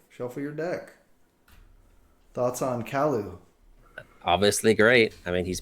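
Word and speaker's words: Kaluu: So we got Kalu. That's how you pronounce it.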